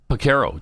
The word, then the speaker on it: Porcaro: How do you pronounce his last name? Oh, Porcaro.